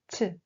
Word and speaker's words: ㅊ: It should always be pronounced with air, as if you are releasing the air from your mouth. Repeat after me. ch, ch.